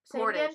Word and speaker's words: Portage: us that worth SLP Orta gee how do pronounce that porto portas portage wait portage slowly p o are ya tage portage portage